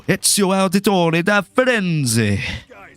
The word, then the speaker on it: Ezio Auditore da Firenze: No, but if you want to say it the Italian way, though, Ezio Auditore da Firenze. That's how you say it properly, baby.